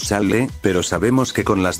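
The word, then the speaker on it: sálle: Naturalmente, pronunciaríamos salle, pero sabemos que con las dos L's juntas se pronuncia la fuerza como salle, lo cual le quita todo el sentido a la palabra que buscamos.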